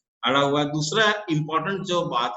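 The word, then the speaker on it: Djibouti: Ethiopia है, Ethiopia से अलग हुआ कंट्री है जिबूती, डी डी डी से शुरू होता है लेकिन डी साइलेंट होता है, जिबूती बोला जाता है।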